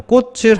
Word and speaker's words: 꽃을: 밑에 있는 받침 치은 뒤로 넘어가 버립니다 그래서 꽃을 하고 발음을 하게 됩니다 자 만약에 이렇게 발음하는 형태대로